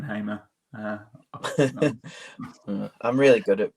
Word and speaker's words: Hamer: I loved how you called him Ben hammer and not Ben Hamer I'm really good at